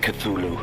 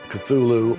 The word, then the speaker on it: Cthulhu: And so finally, in a letter of 1934, he tells a colleague, well, it's really meant to be 2 syllables.